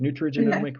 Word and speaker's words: nutrigenomic: of what a genomic nutrigenomic, is that how you say it? Nutrigenomic report? You say it fast, nutrigenomic.